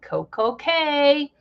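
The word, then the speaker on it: CocoCay: Royal Caribbean's Private Island Coco K so perfect day at CoCo k you have to say it like that because it Rhymes even though we we all know it's key okay so we're going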